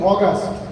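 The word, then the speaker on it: August: আজকে আগস্ট মাসের 27 তারিখ আগস্ট মাস বাদ দেন। আগস্ট এই শব্দটা ভুল। কেমন? ইংলিশে সঠিক উচ্চারণ কি? অগস্ট। কি বলছি বলেন? অগস্ট।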